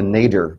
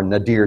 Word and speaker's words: nadir: And that's called the nadir, or nadir, depending on your pronunciation. I think it's actually nadir is the correct pronunciation for that.